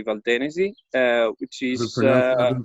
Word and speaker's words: Valtenesi: And the DOC we are selling with is Valtenesi, or Valtenesi, but in Italian we would say Valtenesi, which is I've been pronouncing it wrong the whole time, huh?